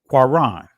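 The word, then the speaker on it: קרן: Notice how it's pronounced, quaran, and it means to push or gore, to shoot out horns, raise, shine. So this is the primitive root word, quaran, and that's the proper pronunciation of it.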